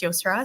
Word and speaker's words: Yosra: And yes, my name is pronounced Yosra, so you said it right.